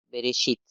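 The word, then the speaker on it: בראשית: Entonces, esta es una E, Aleph es una E, y conjuntamente con resh se pronunciaría re. Entonces tenemos be, re, bereshit.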